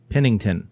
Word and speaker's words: Pennington: God why can I not pronounce the T spell it PE in in ing Thien Pennington there we go Pennington a